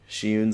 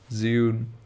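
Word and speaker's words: Zhiyun: So Shiyun's a pretty good option. So how do you pronounce it? It's Ziyun. It's just like my name, like unique name.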